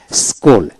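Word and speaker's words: school: Saint Saint এইভাবে যেমন এস সি H double L স্কুল অর্থাৎ এস এইচ ডব এল স্কুল সি উচ্চারণ হবে না এল ও কে লক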